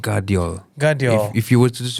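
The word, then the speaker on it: Gvardiol: v a r what it's different but it's pronounced guardi if you were to just read it off like someone give you a piece of paper pronounce the name gavio gav yeah you'd say that there was um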